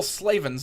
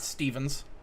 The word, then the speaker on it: Slavens: got the name wrong it's J Paul slavens not Stevens uh he was Ammond